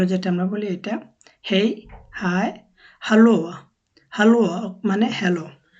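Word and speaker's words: hej: আমরা বলি এটা হেই হাই হ্যালো হ্যালো মানে হ্যালো তো একটা সময় যেভাবে বলেছিলাম যে অনেকটা এর মত উচ্চারণ করে এজন্য এখানে হে বলবা না বলবে হেই হেই মানে হচ্ছে হায় যখন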